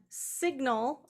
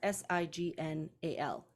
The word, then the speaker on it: signal: l is Rewritten as s-i-g-n-a-l signal so the pronunciation has changed even though um it's part of what we would call the sign family so they're related in